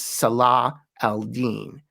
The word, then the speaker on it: Salah al-Din: The name is Salah al-Din, meaning righteousness of the faith, the last syllable being the important one, Deen.